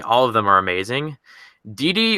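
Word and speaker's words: Didi: of them are amazing DD or gg apparently in Portuguese it's pronounced gg gg Lozada of the pelicans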